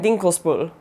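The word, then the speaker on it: Dinkelsbühl: say these wrong but i think they're pronounced nordlingen rothenberg of their tower and dinkles bull again sorry if that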